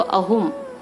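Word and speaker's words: ꯑꯍꯨꯝ: 3 को अहुम, AHUM, अहुम। यहाँ पे A का प्रोनाउंसिएशन जो अ करके यूज होता है, अहुम।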